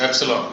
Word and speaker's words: epsilon: This is EMF, and the symbol is this, epsilon, capital epsilon. What do we call it? Epsilon. This is how it is pronounced.